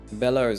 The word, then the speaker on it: Bellows: Bellows is how you say it. Okay.